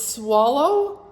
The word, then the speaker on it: Soileau: It's Swallow, right? As in gulping.